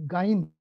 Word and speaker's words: Gine: Just to please do my pronunciation would be Gine. Gine, fine line time source.